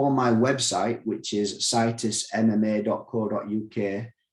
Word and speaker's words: Citus: if you go on my website which is situs mma dot co dot uk which is spelled c i t u s i'll put